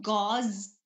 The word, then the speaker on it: gauze: pronounced as guge okay the medical gauze is spelled with a z Okay g Au u z e gauze okay which is different